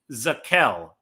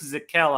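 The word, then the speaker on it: Zakelj: And then Nick, this is a tricky pronunciation, Nick Zackelj. That J at the end of his name is not a typo. Nick Zackelj out of Fordham, which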